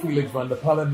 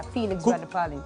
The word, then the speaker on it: Felix Vander-Pallen: Felix, let me pronounce the way he does it. Yeah, Felix Vander-Pallen. Cookie tea style. Yeah, Felix Vander-Pallen. That's how he himself used to say it on radio.